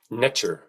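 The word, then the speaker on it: Netjer: Netter was actually pronounced netcher, extremely close to the English pronunciation of nature, nature.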